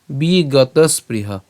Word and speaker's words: বিগতস্পৃহ: পুরাটা আমরা একসাথে উচ্চারণ করব তাহলে পুরাটা একসাথে উচ্চারণ করলে কি হবে দুঃখে শুয়ানুত দুঃখে শুয়ানুত এরপর বিঘ্নমনাহ সুখেসু বিগত স্পৃহ দুঃখে সুয়ানুত বিঘ্নমনা সুখেসু বিগত স্পৃহ বিগত স্পৃহ